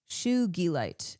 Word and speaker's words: sugilite: Su rhymes with shoe. Sue. Shugilite.